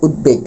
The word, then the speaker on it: উদ্বেগ: দটা আসবে এবং বড় উচ্চারণ হবে। উদ্বেগ।